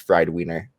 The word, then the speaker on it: FRDWNR: as well it's it's spelled frdwnr it's pronounced friday wiener so wait wait that's i'm not making that up it's actually pronounced fried wiener you're messing with i was like winner maybe